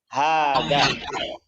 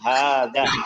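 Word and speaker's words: هذا: Tapi di sini untuk hada hadhihi maka dibaca panjang 2 harakat. Jadi hada. Jadi bukan hada tapi hada.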